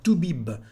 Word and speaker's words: toubib: We say un toubib, and we pronounce the letter B at the end.